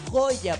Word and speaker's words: Joya: Bueno, mira, en realidad mi nombre se escribe Joya, pero se pronuncia Joy.